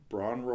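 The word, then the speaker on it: Bron-Yr-Aur: you can find it search for bran row or spell it out though B ro n - yr - a you are Robert Plant pronounces it something like that like what I said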